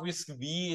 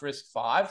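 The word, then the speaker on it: RISC-V: is is it's not risk V it's it's it's pronounced risk five the reason that is risk five is the fifth version of the risk architecture which was designed originally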